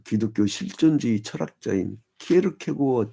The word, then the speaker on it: 키에르케고어: 그 기독교 실전주의 철학자인 키에르케고어 때문에 키에르케고르가 아닙니다 키에르 케고 그 이제 덴마크 발음으로이 사람이 이제 1813년 나왔고